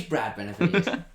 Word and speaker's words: Brad Benavides: Does he happen to drive for PHM and rhyme with Lads Benavides? It is Brad Benavides.